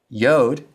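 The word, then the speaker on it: י: Yod sounds like the y in yes.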